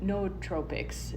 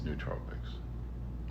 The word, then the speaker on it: nootropics: interested these days in no tropics you know nutrients chemicals that help there is no it's n-o-o um that's nootropics that guy pronounces things wrong